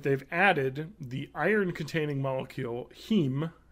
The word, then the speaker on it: heme: So wheat and potato proteins that they've added the iron-containing molecule heme, H-E-M-E. I think that's how you pronounce it, which is found in a lot of natural plants.